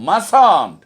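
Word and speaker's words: mustn't: এরপরে মাস্ট নটকে আমরা কখনোই মাস্ট নট বলবো না, কথা বলার সময় ইংরেজিতে আমরা বলবো মাসান্ট।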